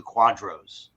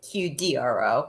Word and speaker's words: QDRO: people who do the quadros right quadro's q-u-a-d-r-o that's how you spell it right cute we we usually say qdro but we use necessity